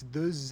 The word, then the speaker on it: deux: Like the word for two is de, but if you have two friends, it's deux amis. So where'd that z come from?